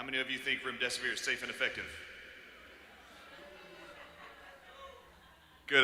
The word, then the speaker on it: remdesivir: Artis, I love how you told everybody to call it Run Death is Near so they could remember the name.